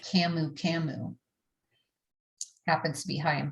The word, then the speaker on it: camu camu: familiar with is called camu camu happens to be high in vitamin c how do you spell it c-a-m-u-c-a-m-u so it's just camouflaging and